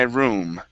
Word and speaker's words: room: Okay, so this is going to be curtains are in my room. Instead of loom, it's room.